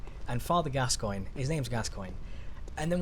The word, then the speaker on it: Gascoigne: is Moira right and father Gascoigne his name's Gascoigne and then we people see his name's I